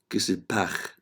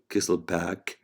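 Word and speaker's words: Kiesselbach: And in German you can pronounce it Kesselbach area, but in English it is Kesselbach area or Little's area, in which there are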